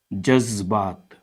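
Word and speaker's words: जज़्बात: फिर वो अक्षर का सही उच्चारण हो गया तो उससे बनने वाले शब्द जिंदगी जज्बात जज्बात।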